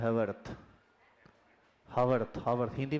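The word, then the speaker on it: Haworth: इसी गड़बड़ी को सुधारने के लिए एक साइंटिस्ट हैं जिनका नाम है ह हैवर्थ। हवर्थ हवर्थ हिंदी में हवर्थ लिखा आता है। ऐसे स्पेलिंग होता है एच ए डब्ल्यू आर टी एच हवरवर्थ।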